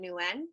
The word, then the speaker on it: Nguyen: I pronounce it Nguyen, but Nguyen. people pronounce it now, which is the proper way, but I just grew up saying Nguyen.